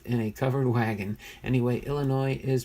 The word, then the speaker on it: Illinois: Anyway, Illinois is pronounced with, Illinois. It's not Illinois, Illinois. Is pronounced with a silent S.